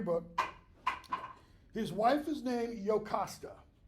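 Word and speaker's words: Jocasta: his wife is named yokasta the J is pronounced like a y okay she's pregnant with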